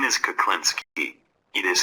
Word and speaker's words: Klinski: use text speech for that my name is klinsky it is spelled kid u k l i NSK k